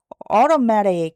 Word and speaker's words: automatic: 근데 실제로는 리을 R로 발음이 돼요. automatic 이렇게 되죠.